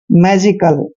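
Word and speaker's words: magical: next pattern read करेंगे एम ए जी आई सी ए एल एम को हमने मैं पढ़ना है और ए को ए की मात्रा पढ़ते हैं जी को ज पढ़ना है आई को ई की मात्रा पढ़ते हैं और सील को हम क्या पढ़ रहे हैं कल मैजिकल ठीक है ना मैजिकल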